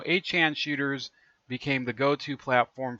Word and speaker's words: 8chan: and they asked him, how do you pronounce the name? Is it 8chan or Infinite Chan? And it says, I prefer 8chan actually.